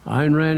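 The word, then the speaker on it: Ayn Rand: The Fountainhead and Alice Atlas Shrugged Ein Rand iron Rand is correct and you spell that Ayn Ein question four airs what is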